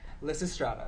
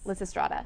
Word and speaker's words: Lysistrata: on campus what is it called i can't pronounce it lisa strata yes liz estrada yes and what is it about well liz